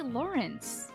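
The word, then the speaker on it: Lorenz: pretty impressive Lawrence it's does anybody else pronounce Loren's name as Loren they always say Lauren if his name was Lawrence they could just write it as Lawrence right I have I always see it as Lauren the same to you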